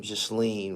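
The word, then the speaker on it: Ghislaine: trial what would just lean that's her name just lean right that's how it's pronounced yeah i know it started this week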